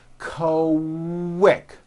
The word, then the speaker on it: quick: So, for example, the word is pronounced with a K and a strong W sound. Quick.